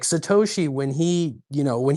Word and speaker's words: Satoshi: who own Bitcoin that can't even pronounce Satoshi? I don't think it's I don't think it's a fantastic brand. I get that like people picked up on it and it'll work. I don't think it's a bad thing. Um, but if you're Jamie Diamond said it was Satashi.